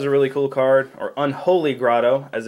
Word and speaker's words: Unholy Grotto: and herborg because I like Synergy bab bog Unholy grot is a really cool card or Unholy Grotto as it's properly pronounced uh yeah it puts a z a